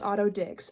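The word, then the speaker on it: Otto Dix: name I mispronounced his name I know it's pronounced autod Dix okay it's pronounced autod Dix which is objectively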